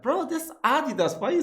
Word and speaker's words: Adidas: Yeah, sounds like a native English speaker that they put the stress on the first letter.